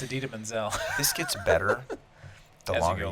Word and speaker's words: Idina Menzel: get John Travolta to mispronounced that singer's name again oh yeah a del dazeem it's idina menzel this gets better the